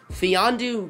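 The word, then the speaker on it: Mfiondu: trading up to get fee on du Cap and LA that's how you say it the M is silent that's pretty good to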